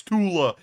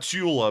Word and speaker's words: Tula: And I know someone's about to say it's Tula, not Chula, but I want to pronounce it that way.